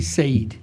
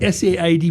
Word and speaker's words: Said: My name is Said. Oh, I see. S-A-I-D. It's also like very mispronounced because it's spelled S-A-I-D. People say Said. Said. Yes. But it's an Arabic word which means Said. Yeah.